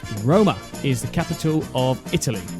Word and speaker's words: Roma: that music Amy so Rome pronounced Roma is the capital of